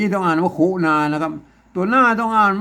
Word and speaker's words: ขุณณา: ก็ มา นะ อย่าง นี้ ต้อง อ่าน ว่า คุนานะ ครับ ตัว หน้า ต้อง อ่าน ว่า คุณ น้า